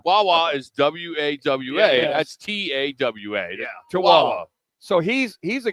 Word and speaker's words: Tawa: Isn't it Tewa, like Wawa, Tawawa? Tawa. But they isn't it Tawawa? I thought it was Tawa. T-A-W-A, Tawa. Yeah, Tewa, Tawa. Wawa is W-A-W-A. Yeah. That's T-A-W-A.